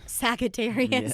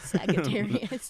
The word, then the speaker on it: Sagittarius: Sagittarius. Yes. That's nice. The hard G. Yes. Sagittarius. That's how I say it.